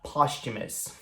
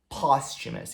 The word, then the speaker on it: posthumous: Só que ela tem uma pequena pegadinha, porque ela é escrita dessa forma aqui, mas não tem som de TH. Na verdade, a gente pronuncia posthumous, com um som de tch, posthumous.